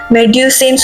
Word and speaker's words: Medusa: ஸோ இது actually எப்படி pronounce பண்ணுவாங்கன்னா, ஃப்ரெஞ்சில் மெடியூசேன்னு சொல்லுவாங்க. ஸோ இங்கிலீஷில் வந்துட்டு மெடியூசான்னு சொல்லுவாங்க.